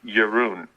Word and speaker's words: Jeroen: Well, he had told me a long time ago it's like Jeroen.